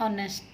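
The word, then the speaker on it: honest: जैसे एन ऑनेस्ट, यानी कि एक ईमानदार। तो अब इसमें ओ से साउंड हो रही है, साइलेंट है, तो इसलिए हमने एन लगाया।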